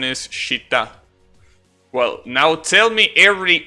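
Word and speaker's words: 下: You know, the normal pronunciation is shita.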